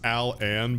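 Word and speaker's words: Al-An: to the twisty Bridges Allen's the name of the alien right it's it's it's it's technically pronounced Alan but yeah uh everyone just calls him Allen oh come on give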